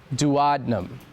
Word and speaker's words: duodenum: spelled out d u o d e n u m like duodenum but pronounced dadnum.